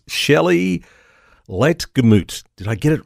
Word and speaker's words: Ligtermoet: Life Church in Melbourne that much I can pronounce and it's Shelly Le gut I get it right I'm going to give